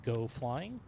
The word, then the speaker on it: Geaux Flying: channel here in the Seattle area this is pronounced go flying welcome in for all of you who are new to the panel.